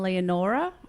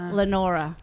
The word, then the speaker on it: Leonora: Especially when I found in the prospect she was pronouncing Leonora wrong. It was Lenora.